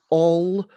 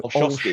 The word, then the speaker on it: Olszowski: Unpronounceable by a now sadly departed friend, but the easiest way to actually sort of think about it is to say Olszowski. So Olszowski. Olszowski.